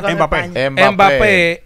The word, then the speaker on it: Mbappé: En el caso de Mbappé, ¿cómo que se pronuncia? Mbappé.